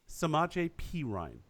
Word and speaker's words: Samaje Perine: Samaje Perine.